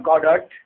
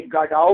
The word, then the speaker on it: Godot: This is not a Godot. The real pronunciation as per the writer's pronunciation, जिस तरह के small baked ने कहा है कि इसे गडाओ प्रोनाउंस करना है, तो हमने भी इसे गडाओ प्रोनाउंस करना है.